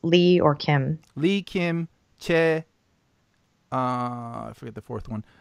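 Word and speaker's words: 최: And also Choi, there's no Choi in Korean. It's Che. But these things get translated over.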